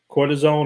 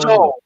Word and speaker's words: cortisol: Cortisone or cortisol? Cortisol. It's cortisol.